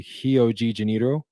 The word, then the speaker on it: Rio de Janeiro: in Rio and and in Brazil RS are pronounced as H's fun fact so Rio de Janeiro is actually hio G janito so let figure that